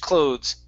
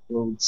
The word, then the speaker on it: clothes: um with clothes okay this is the th is voiced okay so what's the difference like an F sound cloth the other one is clothes okay and we pronounce that th clothes clothes right so that's the